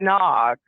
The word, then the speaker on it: Nag: and I named it Nog. Like in Ricky Tikki Tavi, like the Cobra's name is N-A-G, Nag. It's kind of funny, like Nag's head, but it's pronounced Nog.